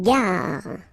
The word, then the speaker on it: gare: Une gare. Okay, remember when you get these G and A together, the sound is g, ga, ga. Une gare. Final not pronounced.